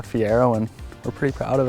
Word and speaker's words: Fiero: know they're thinking right say Fiero they think you're pronouncing Ferrari wrong right but no it's a Fiero and we're pretty proud